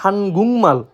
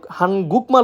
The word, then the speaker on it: 한국말: তো প্রথমে যে ওয়ার্ডটি রয়েছে সেটা হচ্ছে হানগুংমাল। এটা আমরা প্রায় সময় হানগুকমাল উচ্চারণ করে থাকি, যেটা সম্পূর্ণরূপে ভুল, যার অর্থ কোরিয়ান ভাষা।